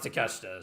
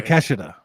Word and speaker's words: Takeshita: You don't know how to pronounce Takeshita, so I don't want to. Takeshita. Kenosuke Takeshita. You're adding another syllable.